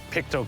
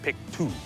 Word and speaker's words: Pictou: now we're starting this in pikto County the most important thing to know about pikto county is it's not pronounced Pik two that youu at the end has nothing to